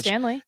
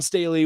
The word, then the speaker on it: Staley: night so was dawn stanley john don staley was don staley john staley staley yeah staley stan stan not stanley staley yes say her name